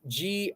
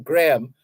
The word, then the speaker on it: Graham: believe was his name Graham and that Graham was spelled g-r-a-e-m-e Graham hick so g-r-a-h-a-m is pronounced Graham it's pronounced as if there's no h there the H is silent Graham Hugh Graham resigns